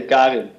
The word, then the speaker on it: Karin: it's not the American Karen, because that's a typification for a certain woman. Maybe you can explain, how do we pronounce it? Karin? In Dutch we say Karin.